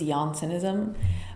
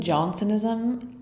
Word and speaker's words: Jansenism: And apparently in English, you say Jansenism. Johnsonism. Um, and in in French, it's uh uh so I'm just going to say Johnsonism.